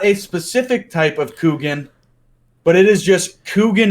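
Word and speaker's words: Kuchen: Q no okay no it is smoked k UC h en and it is pronounced Coogan it's not good I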